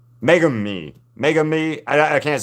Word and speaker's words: Megumi: Meg u Megumi Megumi.